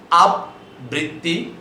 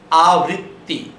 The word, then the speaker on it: আবৃত্তি: তয় রশ্মি আৃ তি অনেকেই উচ্চারণ করবার সময় দেখবেন এটা উচ্চারণ করে আব বৃত্তি অথবা আব বৃত্তি তা নয় এর প্রকৃত উচ্চারণ হচ্ছে আবৃত্তি স্বর আ বয় ঋকার